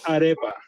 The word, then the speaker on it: arepa: So it's arepa. Arepa. Arepa, yes. Arepa. So I was saying it right. It is arepa. Arepa, yes. Not read. No, don't say e. Say like my friend was saying.